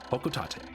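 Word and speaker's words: Hocotate: It's the official pronunciation, Hokotate.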